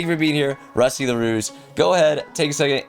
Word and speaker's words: LaRouge: Okay, I was like, my mind's like LaRogue, and then it was like, no, it came out LaRouge. Okay, thank you. Sorry. Thank you for being here, Rusty LaRouge.